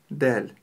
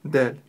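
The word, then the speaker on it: دال: знать про букву даль она мягкая и звонкая Повторяйте за мной ль ль ль нельзя её произносить твёрдо дал мы её произносим мягко D D D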